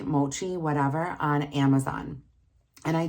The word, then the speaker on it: mochi: of my being was I wanted to order Machi Mochi whatever on Amazon and I didn't actually it's pronounced mochi I didn't order it but I